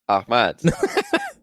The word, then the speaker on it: Ahmad: way too deeply like you have to say instead of h i know it's hard but yeah yeah it's the back of the throat part right yeah yeah yeah exactly